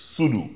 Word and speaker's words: Soodhoo: Soodhoo. Yes. I got that pronunciation correct?